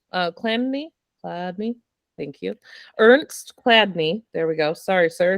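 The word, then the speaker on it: Chladni: And then Clandini, Cladney, thank you. Ernst Cladney, there we go.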